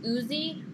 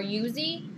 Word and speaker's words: Uzi: automatic weapon called an I hope it's pronounced properly Uzi or yuzi um it's spelled uzii and it's an automatic